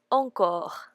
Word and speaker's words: encore: Actually, it's a word from French, and it means more, and we pronounce it encore.